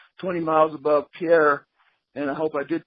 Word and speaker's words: Pierre: Pierre, South Dakota, just like a boat dock, a pier. It's a pier. Okay. Yeah. I started calling Pierre, and the guy said, "No, it's Pierre."